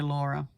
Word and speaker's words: Laura: Oh, you're more than welcome to say Laura. But Laura is how we pronounce that name in Finland.